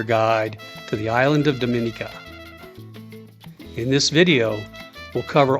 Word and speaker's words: Dominica: First thing first, the island is pronounced Dominica, not Dominica.